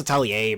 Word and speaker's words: Atelier: It's pronounced Atelier, but I hate saying it.